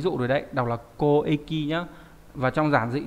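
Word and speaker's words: 交易: Hay là đọc là koeki, đúng nhỉ? Giao dịch. Lúc nãy đã cho các bạn xem ví dụ rồi đấy. Đọc là koeki nhá.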